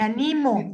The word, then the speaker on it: animo: de las personas y si lo leo sin tilde verbo verbo bien presente en presente me animo yo me animo a hacer tal cosa y con